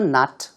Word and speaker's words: knot: 두 번째 표현은 tied a knot with a foreign spouse 혹은 그냥 a foreigner 라고 하셔도 괜찮은데요. tied a knot 할 때 K가 발음이 나지 않습니다.